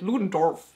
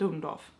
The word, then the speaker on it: Ludendorff: what's his name, Ludendorff, also the way they said it, Ludendorff, it's not how you say it, it's Ludendorff. Like, you don't actually hear the R.